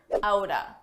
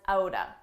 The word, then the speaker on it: out of: Let's talk about a common reduction, outa. Out of, side by side, you can pronounce as outa, outa.